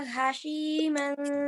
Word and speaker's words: هشيما: Baha hashiman tadruhur riyah. Hati-hati, ini dua huruf yang mirip ya, H dan H.